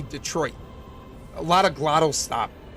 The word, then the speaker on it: Detroit: People don't pronounce the second T in Detroit. What's wrong with you? No, we say like Detroit. Like that's a very Michigan thing. We don't say Detroit, we say Detroit.